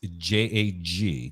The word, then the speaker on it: Jag: the way it's pronounced it's j-a-g not j-a-c-k well it's j-a-g it's you know Jag that's the way we say it up there 50 Commander's